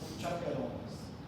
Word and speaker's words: chaperonas: Então, cada ponto desse neurônio aqui tem um monte de nozinhos novelados, tem um monte de chaperonas, é a pronúncia correta.